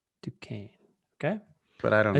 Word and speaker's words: Duquesne: I'd say Duquesne, Duquesne.